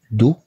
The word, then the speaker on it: doux: D-O-U se prononce doux.